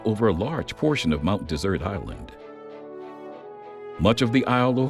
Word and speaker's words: Mount Desert Island: the first to explore the region and gave Mount Desert Island its name. When you take a look at the map, Mount Desert Island or Mount Desert Island, it's spelled like desert.